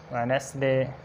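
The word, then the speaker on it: Wednesday: जैसे एग्जांपल्स हो सकती हैं हैंडसम, इसी तरह सैंडविच और इसी तरह वेडनेसडे। तो देखें इनमें डी साइलेंट है सब में।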